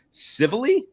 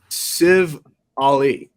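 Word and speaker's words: Civale: Well, I think I said Civili. Yeah. Civ Ali. Yeah. Civ SIV-ALL-E. Civilly. Civilly. He's Somali to me.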